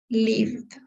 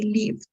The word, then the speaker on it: lived: example we have live LIF right it's not necessary to say LIF because it's the V is a is a soft s so we just say Liv chilled enjoyed so can